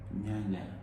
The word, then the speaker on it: nyanya: Nyanya. Are you serious? Yeah, I'm serious. There's words I cannot pronounce, and that's one of them.